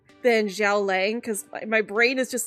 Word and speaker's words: Xiao Lang: Xiao Lang, which Yeah. Which is how his name is is pronounced in Chinese.